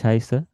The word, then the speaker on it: heiße: Bisa ich heiße, ini yang seperti huruf B ini dibacanya S biasa ya. Kalau masih ingat tadi huruf S dibacanya apa tadi? Z. Ya. Z. Nah ini yang bacanya huruf S, jadi terbalik ya. Yang huruf B ini dibacanya S biasa, biasanya.